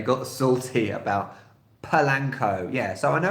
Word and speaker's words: Polanco: and I find that American English so much many Americans out there is very simplified and it's phonetically it's very it's pronounced how its set so Polanco but I say / Lancome because British English has a schwa sound which is a sound it which is probably the most common sound in British English so that's where pearl & Co comes from and actually this is